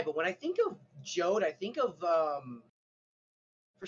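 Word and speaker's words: Jeod: however you pronounce it his name is pronounced jode like code he actually writes that out in the book it actually says when you're in the pronunciations jode rhymes with code yeah okay now i'm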